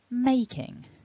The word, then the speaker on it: making: Making. And as you'll see, the stress is on the first syllable of the word, making.